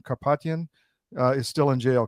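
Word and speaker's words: Karapetyan: Kapatian uh is still in jail. Correct. Carropetian is in still in jail.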